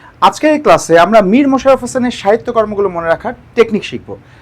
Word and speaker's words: মীর মশাররফ হোসেন: আজকের এই ক্লাসে আমরা মীর মশাররফ হোসেনের সাহিত্যকর্মগুলো মনে রাখার টেকনিক শিখব। তার আগে ভালো করে লক্ষ্য করতে হবে মীর মশাররফ হোসেন বানানটা। মীর মশাররফ হোসেন, এখানে কিন্তু মোশাররফ হোসেন না, মশাররফ হোসেন, এবং কোনো রয়ের নিচে হর্ষ